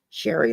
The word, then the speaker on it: Shari: it I'm just like just think Sherry like Mary it's pronounced the same way it's just a couple